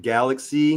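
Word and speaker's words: Galxe: Um, we have Patrick uh from Galaxy, not Galaxy as in like the universe, uh, but it's spelled G A L XE.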